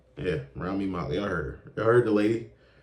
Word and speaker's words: Rami Malek: How do you pronounce his name? Rami Malek. Yeah, Rami Malek.